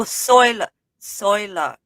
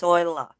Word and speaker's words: Zoila: Oh, Soila is how you pronounce her name. It's the Z is silent, so it'd be pronounced Soila.